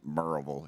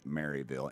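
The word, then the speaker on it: Maryville: post up where is it sir marville it's pronounced merille if you're from there but it's you would pronounce it marville m a r y v i l l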